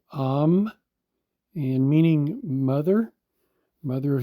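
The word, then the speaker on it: אם: the word for mother we see Olive me pronounced am and meaning mother mother of humans uh in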